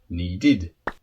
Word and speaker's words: needed: So verbs that finish with a D or a T sound that are regular with the ED, you then pronounce id. Wait, waited. Need, needed.